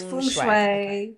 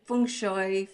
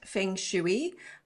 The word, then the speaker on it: feng shui: So, it's feng shui, feng shoy, feng soy, feng shway. Uh no, not it's not feng shuey. Uh and not feng shue either. Okay. Nothing to do with shoes.